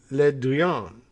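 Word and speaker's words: Le Drian: rage to his otherwise quiet foreign minister jean-yves le duyon how's that for pronunciation i think the pronunciation gets better if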